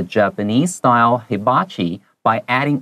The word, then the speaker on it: hibachi: 好，这个如果是日文的话，他们可能会念成 hibachi。好，它的重音会在第一音节 hibachi。